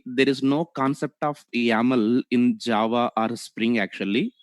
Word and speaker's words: yml: Okay, for pronunciation purpose we call actually yaml, so extension is .yml here.